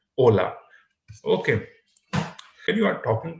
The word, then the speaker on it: hola: right hello is hola you cannot say hola why because h is silent in spanish right just skip the edge and pronounce it hola okay and you are